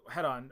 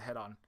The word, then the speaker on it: Hedon: game um and uh this game uh head-on or I think it's hidden heading it's called different things depending on who's describing it and who's uh pronouncing I think the Creator calls it head-on um is a game